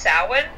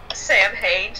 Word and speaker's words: Samhain: something yeah yeah because the actual word is pronounced salad I believe I'm saying that correctly so he named himself Samhain people would be like